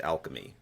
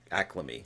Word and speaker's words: alchemy: Just before you get tore up in the comments, Roy, it's pronounced alchemy. What did I say? Acclamy, like getting acclimated to I don't know what you were going for, but it's okay.